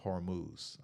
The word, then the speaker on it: Hormuz: Okay, so a lot of little news just came out on everything going with the Strait of Hormuz.